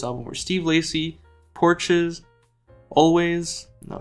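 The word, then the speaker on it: Alvvays: Inspirations for this album were Steve Lacy porches always it's 2vs but it's pronounced always and Australian bands such as morning TV all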